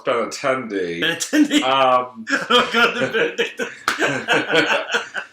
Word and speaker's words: Benintendi: Was it Benedictus? Incorrect. First of all, it's Benintendi.